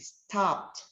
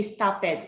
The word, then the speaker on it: stopped: good you are correct stopped okay do not say stop it it's wrong in english it's stopped okay you have to emphasize letter t because it is uh